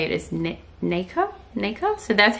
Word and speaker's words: nacre: Okay, I just looked it up and the way you say it is nacre, so that's how I'll say it from now on.